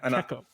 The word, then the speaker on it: Kekko: Kekkoukamen, like common, but Yeah, Kekko. It's like gecko, but with K's, all K's.